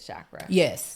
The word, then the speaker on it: chakra: go and get my energy healed um and chakra balancing. Is that how you say it? Shakra.